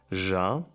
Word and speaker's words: já: Interior, trottoir, rendezvous, cliché, déjà vu, já. This is from already. This is like Portuguese. Já. And now we also know how to pronounce this, because this is the same as in French. You say já.